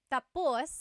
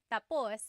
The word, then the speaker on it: tapos: So, when it's tapus, when the emphasis is at the end, tapos, that means finished. When the emphasis is on the first syllable, then it means next.